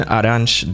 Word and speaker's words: Arantes: inspiration from all-star footballer Pelé's real name, Edson Arantes do Nascimento, tweaking it to create Samus Aran. And though his name is pronounced Arantes, the pronunciation of Samus's surname is confirmed to be Aran.